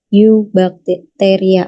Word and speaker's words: Eubacteria: Kemudian yang bakteria yang sering atau berada di sekitar kita itu adalah yang di Eubacteria atau EU itu ya, bacanya Eubacteria.